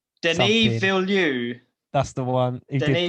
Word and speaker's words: Denis: have no idea how you say his name dennis denis that's the one he did played runner 2049